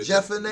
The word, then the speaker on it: Jephunneh: Yeah, Jephunneh.